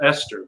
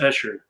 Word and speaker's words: Escher: Looks like it's spelled Esther, but it's Escher.